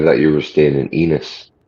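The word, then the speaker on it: Ennis: I thought you were staying in Enos. Rhymes with penis.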